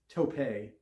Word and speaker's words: tope: top of the taupe it's topay with a sickening thump this just had to have caused major damage a taupe i'm doing that because i'm i know how to pronounce it because i've read the book but i'm trying to read it how it's written a taupe round tope